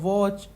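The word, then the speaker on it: watch: है ठीक है यह वॉच टीम टॉम ठीक है तो यहां पर वॉच में पति साइलेंट है और किसी में भी e.t.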